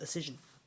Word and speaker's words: Auscision: Models originally, but I have learned how to pronounce it properly, and now I do call it Auscision.